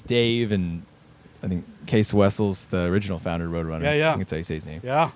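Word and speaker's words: Cees Wessels: So, it's there's, you know, it's Dave and I think Case Wessles, the original founder of Roadrunner, that's how you say his name.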